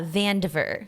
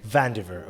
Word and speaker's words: Vandiver: H we have how how you do you pronounce your surname correctly uh vaner vaner okay so we have today in the podcast